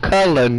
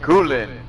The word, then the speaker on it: Cullen: And it's pronounced Cullen, not Coolin. And Cullen.